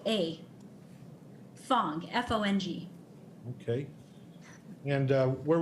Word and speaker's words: Fong: k a l e i k o a thong f-o-n-g okay and uh where were you born